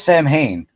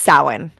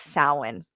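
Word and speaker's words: Samhain: Um it's Irish. So it's it's a Gaelic word. Um so it looks like Sam Hane, but it's sin.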